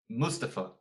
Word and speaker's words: Mustafa: Mustafa. It's Mustafa. Who cares? Moving on. Wow, what a rebuttal.